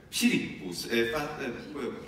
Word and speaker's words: Philippus: Dunque va bene fare anche così secondo me, ma non pronunciare come una F perché non aveva questo valore fino ai tempi bizantini.